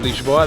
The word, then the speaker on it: Lisboa: in the town of leash law that's how it's pronounced in Portuguese and today I'm going